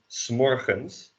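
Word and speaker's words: 's morgens: You just pronounce it as one word.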